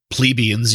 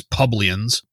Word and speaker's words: plebeians: He uses words like plebeians, even though he mispronounces it as publians.